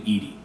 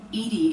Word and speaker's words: EDI: Why are you named Edie? Edie is the phonetic pronunciation of E-D-I.